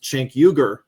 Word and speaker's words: Cenk Uygur: allowed Murray on his program, Uncensored, to debate Cenk Uygur, and he completely... Yeah, exactly. How do you pronounce that man's name again?